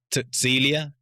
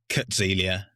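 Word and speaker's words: Cäzilia: And then there's his wife, which I believe her name is pronounced like Tutzilia, but it's spelled Cazilia, and it's got an umlaut on the A. I'm just going to call her Kutzilia because it's a lot easier.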